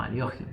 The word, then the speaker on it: Alekhine: Este ataque directo de la pieza responde a la defensa de Alekhine o también pronunciado como Aliogin, ¿sí?